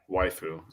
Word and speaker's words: waifu: a Wu Wu wife waiu is just using Japanese pronunciation rules to say wife yeah so it's wifeu is when I Googled